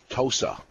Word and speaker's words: Tosa: little bit uh so good move there uh pronounce the name of the cigar again tosa tosa okay tosa it's um it is well it's